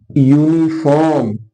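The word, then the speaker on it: uniform: लगेगा ए ठीक है अब आप यूनिफॉर्म जो आप पहन के आते हो वर्दी स्कूल ड्रेस इसमें भी शुरुआत यू से हो रही है लेकिन प्रस य आ रहा है ना इसके भी पहले क्या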